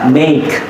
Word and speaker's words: make: Kayak make, ya huruf E-nya nggak dibaca gitu.